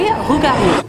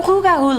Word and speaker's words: Rougarou: Number 3, Rougarou. The Rougarou legend has been spread for many generations, either directly from French settlers to Louisiana or via the French-Canadian immigrants centuries ago.